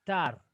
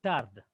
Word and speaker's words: tard: That's why we say this is what? Tar, not tard.